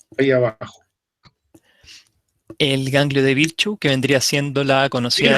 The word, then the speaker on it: Virchow: Originalmente es el ganglio de Troisier-Virchow o Virchow, pero Virchow, la CH es como J se pronuncia.